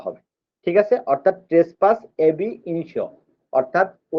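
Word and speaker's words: ab initio: আচ্ছা, ট্রেসপাস বা trespass এবি ইনিশিও, এটা উচ্চারণ হবে ট্রেসপাস এবি ইনিশিও।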